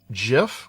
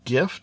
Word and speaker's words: GIF: types we have the gif or gif depending upon how you want to pronounce it the the person who came up with that format said it should be pronounced with a j sound gif everyone else pronounces it